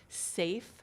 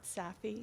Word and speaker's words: SAFE: every Community bill and it's pronounced safe 2.0 not saffy 2.0 save 2.0 and um it is